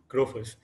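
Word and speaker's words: Grofers: work at growfors and it's pronounced growfus so i like building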